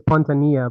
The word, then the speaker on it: Pontanilla: Technically, it's Pontanilla, but however you want to say it is okay. Okay. I actually looked it up last night to see how you pronounce double L's. The Spanish Okay. last name, so the two L's make a yes sound.